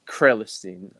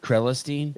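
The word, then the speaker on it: Crelinsten: Am I saying his name right? Krelestein, I think it's pronounced. Krelestein?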